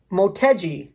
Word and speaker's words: Motegi: had uh i said let's see i could pronounce this right motegi m-o-t egi wheels on it all right um